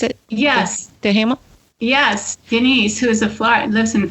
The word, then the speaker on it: Duhamel: Also, Denise Duhamel, is that how you pronounce it? Yes. Duhamel?